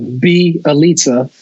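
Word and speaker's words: Bjelica: Belitza.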